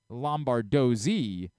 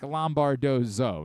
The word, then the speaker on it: Lombardozzi: I'm of course thinking of Herc, who's Dominic Lombardozzi. Yeah. This person is apparently Dominic Lombardozzo. Now there's just no way. How is that possible? Lombardozzo. No, it's the same guy. They're just saying his name wrong.